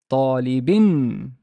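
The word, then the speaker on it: طالبٍ: And I would pronounce this as darsin, darsin, talibin, waladin.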